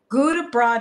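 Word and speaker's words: Gudebrod: Guten Broad. It's spelled G-U-D.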